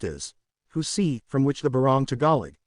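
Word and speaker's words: jusi: form a kind of cloth known as juicy pronounced as who see from which the barong tagalig the national costume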